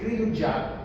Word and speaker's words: cri du chat: francés se le dice cri du chat. Pronuncie. Cri du chat. Cri du chat. Ay, no. No con la T.